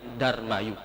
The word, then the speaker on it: Dharmayu: dibaca menjadi Mulyadi demikianlah kata Dharma Ayu menjadi dharmayu 2 kata-kata dalam bahasa